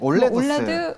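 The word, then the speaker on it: OLEDoS: 이 뭐라고 읽어야 되는 거예요? 올레드 온 실리콘. 네, 올레도스. 올레도스. 네, 올레도스로.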